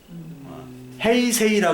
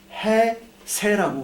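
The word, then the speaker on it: 平成: 일본은 쇼화 다음에 평성 헤이 세이라 하는데 어 이게 일본 할 때는 이게 헤이 세이라 이렇게 발음하는데 그거를 일본에서는 그냥 해 세라고 그냥 해세 이렇게 주로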